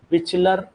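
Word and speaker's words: Bischler: है बिचलर नेफ्रोस्की synthesis बिचलर spelling पे ना जाना बिचलर बिचलर नेफ्रोस्की ने वो क्या होता है स्पेलिंग नेप्लस्की होता है नेप एनएपी क्या होता है?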